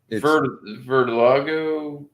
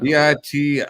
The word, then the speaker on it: vitiligo: It's vitiligo is how it's pronounced.